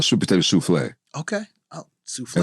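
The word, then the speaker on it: soufflé: Oh, souffle. Am I saying it correctly? Oh, you said it exactly correct.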